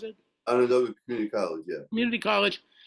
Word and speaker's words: Onondaga: You went to a community college, Onondaga, how do you pronounce it? Onondaga Community College, yeah.